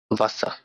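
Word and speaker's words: Wasser: তো ডাব্লিউ কে ভে বললেও এটার উচ্চারণটা ভয়ের মতো বাংলা। তো ওই জায়গায় ভাষা লেখা, উচ্চারণ করি চলেন। ভে আ এস এস এ এল, ভাষা।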